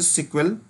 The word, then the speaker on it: SQL: ठीक है, जो एसक्यूएल होती है हम इसको एज ए सीक्वल प्रोनाउंस करते हैं।